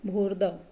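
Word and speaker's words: भूर्ध्व: कई इसका उच्चारण भी गलत कर देते हैं। ये शब्द है क्या वास्तव में? भूर्दव। जो र है वो ध से पहले इसका उच्चारण करना होगा।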